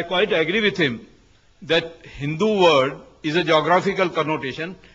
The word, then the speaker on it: Hindu: of this river is sindhu and being an iranian or a unani he could not pronounce sindhu he said it is hindu hafta hindu they call